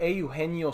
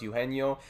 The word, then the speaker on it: Eugenio: and we picked up Eugenio Suarez. Thank you, Pat, for the help with the pronunciation. I thought it was Eugenio, but it is Eugenio, so that is a tough one to say the least.